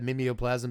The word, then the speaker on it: Mimeoplasm: 2 mana to have Mimeoplasm become a copy of target creature card exiled with it.